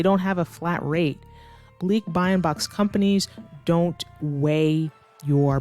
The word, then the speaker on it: balikbayan: So just a quick pronunciation tip, it is not balikbayan. Sometimes non-natives say it pretty quickly like myself, but balikbayan.